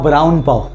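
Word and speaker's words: brown pav: Actually इसका pronunciation बुरुन नहीं है, वो था ब्राउन पाव।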